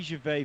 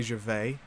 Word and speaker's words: Gervais: They Ricky say Gervais out here. Gervais, Gervais. not Wait, is Gervais. he French? Ricky No, Gervais. yeah. In England they got that Ricky Gervais. Ricky Gervais. Gervais. Get that S out it.